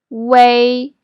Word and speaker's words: ui: The last one, way is pronounced as way. So read it after me. Way, but it's written as ui.